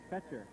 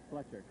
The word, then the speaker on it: Fetcher: It's Fetcher. Not Fletcher.